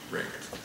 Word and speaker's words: RECD: really existing capitalist democracy recd for short and pronounced wrecked it said so to